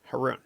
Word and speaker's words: Haroun: properly which nobody does it's pronounced heroin herun but I I was